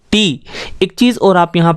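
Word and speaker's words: ٹے: तो इसी तरह अगला अक्षर है टे, इसका प्रोनाउंसिएशन होता है टे, और हिंदी में इसको बोला जाता है टा,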